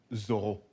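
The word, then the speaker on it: Zoreaux: Oh, exactly, but it's actually pronounced Zorro.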